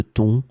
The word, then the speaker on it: thon: In this lesson, we will see together two words that are written differently but pronounced the same way. Ton, ton. Let's start with the first one, ton, with two examples. J'ai préparé une salade de thon pour le déjeuner.